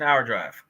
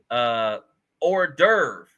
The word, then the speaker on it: hors d'oeuvre: What's an hour drive? I'm saying that wrong, isn't it? Hour drive? Help me out, y'all. What's an hour drive? Hors d'oeuvre. Hors d'oeuvre. I'm saying it wrong and I'm looking at spell check.